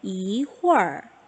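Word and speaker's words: 一会儿: 이홀, 네, 이렇게 소리가 나게 됩니다. 무튼 우리 친구들이 지금 단계에서는 어떻다고요? 뒤에 R이 추가가 돼 있으면 이거 얼화하라는 뜻이구나. 혀를 말아서 마지막에 하고 발음하라는 거구나.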